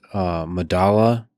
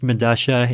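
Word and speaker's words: Medellín: I believe it's pronounced Medasha. It's a South American subway station. I forget where. But spelled with two L's. Yeah, because that's that's how Spanish works, right? Like the two L's have Madasha.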